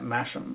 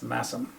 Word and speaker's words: Masham: And I actually was pronouncing it Masham, but it's Massam. Yeah, because it's spelled SH and you think it's shh.